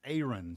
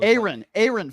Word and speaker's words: Aaron: It's Aaron. So Aaron Ford. Apron with no P in it.